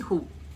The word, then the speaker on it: who: W is silent here.